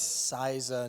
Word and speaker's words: CISA: Number one, it's CISA, not CISA. Don't get those two confused. They're spelled the same.